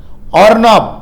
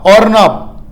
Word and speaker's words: Arnab: காற்றெடுத்த தாடுமண்டலம் அருணா பாகை அதாவது ஏஆர் என்ஏபி ஏஆர் என்ஏபி இது வந்து புயலோட பெயரு ஆனால் உச்சரிப்பு ஓஆர் என்ஏபி ஆர்னாப் ஆர்னாப் இந்த பெயர் யார் வச்சிருக்காங்கன்னா